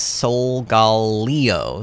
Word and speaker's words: Solgaleo: quick google check and the supposed official one is soul gal leo solgaleo okay we are in